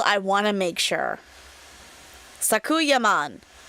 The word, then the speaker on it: Sakuyamon: Sakuyaman. That's how they say it in the anime.